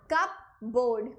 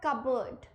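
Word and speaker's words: cupboard: कप बोर्ड, कप बोर्ड। कप बोर्ड मतलब अलमारी, बट क्या ये कप बोर्ड होता है? नहीं होता। This is simply called कबर्ड।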